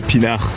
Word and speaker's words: pinard: Oui, c'est la prononciation officielle du mot pinard.